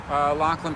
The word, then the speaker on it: Lachlan: to be like, I'm sorry, how do you pronounce your name? Lachlan.